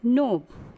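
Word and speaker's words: knob: Next, नोब, नोब दस्ता, क्नोब नहीं पढ़ेंगे, क्नोब wrong pronunciation, right pronunciation is नोब।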